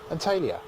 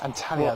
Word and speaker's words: Antalya: Antalya.